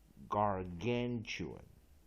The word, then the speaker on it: gargantuan: vowel A juan，所以我们这样画 gargantuan again。再一遍哈 secondary stress on first syllable, main stress on second syllable.